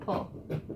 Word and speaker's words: PUL: The guy at the fabric store who owns the fabric store in our area calls it pull, so I've just been pulling at that.